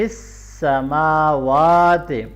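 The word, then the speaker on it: السَّمَاوَاتِ: بھی لمبا کریں گے، فی السماوات، میم اور واو کے اوپر کھڑی زبر ہے تو ایک جیسے لمبا کرنا ہے دونوں کو، سماوات، وما، الف مدہ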